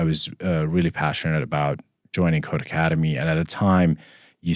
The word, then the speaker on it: Codecademy: No, it's pronounced Codecademy too.